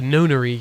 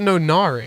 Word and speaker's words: Nonary: The Nonary game. I always say it Nonari. I've never heard it pronounced before. Why did I say it Nonari? That sounds weird now. But Nonary sounds weird as well.